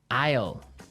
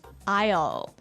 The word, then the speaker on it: aisle: spelled so strangely right we don't pronounce the s the S is silent that's true Isle so